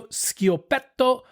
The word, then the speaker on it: Schiopetto: So the first wine we're going to drink today is the 2023 Mario Schiopetto Ribolla Gialla. Now, the Schiopetto is spelled Schiopetto. Remember, CH? Yeah, I was wondering. Hard sound.